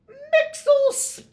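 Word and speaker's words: Mxyzptlk: I've heard it said Mitchell Spittleick and that's how I say it.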